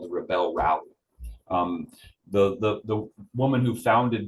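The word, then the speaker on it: Rebelle: And so this organization, the Rebel Rally, it's spelled R-E-B-E-L-L-E, Rebel.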